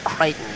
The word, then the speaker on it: Crichton: You say Crichton, I say Crichton. No, it's not. Listen, it's not tomato situation. It's a proper name. Michael Crichton.